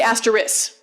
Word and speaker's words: asterisk: There are people who say asterisk. So we've got at least 4. Some people will say I just say asterisk. Like I don't have I have shortened the middle syllable on that. I don't think, I could